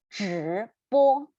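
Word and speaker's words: 直播: We need to roll our tongue up again. Yeah, so roll your tongue up and pronounce 直播.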